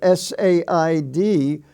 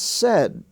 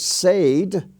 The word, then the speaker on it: said: spelling family you have s-a-i-d which is pronounced said it rhymes with red there is no such word as said it said and in the gain